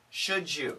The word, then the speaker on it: should you: Should you? Now, if we say it quickly, should you, we get that J sound.